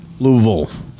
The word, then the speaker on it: Louisville: Louisville. That's how you say it if you're from Louisville. Yeah, I'm not from there. You say oil.